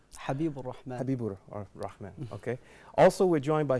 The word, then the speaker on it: Habibur Rahman: Bangladesh habiru rman to you brother did I pronounce it correctly your first name Habib rman okay also we're joined by Sheik Muhammad shabir